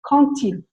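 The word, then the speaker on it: quand il: We were saying a D at the end, and our teacher went, no, les filles, it's quand-il with a T.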